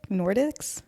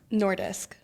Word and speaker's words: Nordisk: Nordics Nordisk.